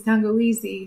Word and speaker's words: tangawizi: So ginger is tangawizi in Swahili. It's like the words ginger. How you say it in Swahili is tangawizi.